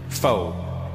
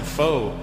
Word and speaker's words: pho: It's spelled P-H-O. Pho. But it's not the way it's pronounced. And in America, people are annoying because I'll be like, yeah, let's go get some pho. And they'll be like, Russell, it's actually pronounced pho. And I'm like, oh, really? Yeah, so... to show respect for the Vietnamese culture, you probably pronounce it pho.